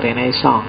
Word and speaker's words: renaissance: istilah dalam bahasa Prancis bacanya agak sengau belakang yo kalau orang Indonesia sih enggak suka istilah sengau itu biasanya renaisan yo renaisan kalau orang Prancis sendiri belakangnya mesti agak hilang renaiss jadi kalau kita nirunya